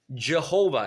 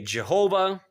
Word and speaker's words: Jehovah: We know exactly when and we know exactly who developed the name Jehovah as we pronounce it in English for English. And it comes from Latin. That's where you get the J sound, the J sound.